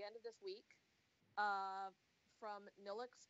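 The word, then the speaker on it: Nilvx: of this week from Neelix publishing which is spelled ni lvx of course because it is and it's because Roman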